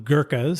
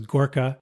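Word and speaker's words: Gurkha: The British called them Girkas. So the Girka pronunciation versus Gorka is from the British.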